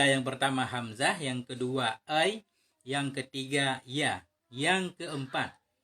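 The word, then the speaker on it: آيْ: Bacanya dengan mad, panjang hamzah, ai. Dan dengan sukunnya.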